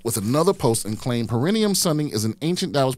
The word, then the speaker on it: perineum: I believe it's perineum, but yes.